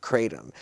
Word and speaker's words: kratom: T-O-M as in man? T-O-M, like Tom.